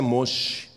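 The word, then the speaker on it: משה: está falando com Moisés em hebraico o nome de Moisés é moch e o nome de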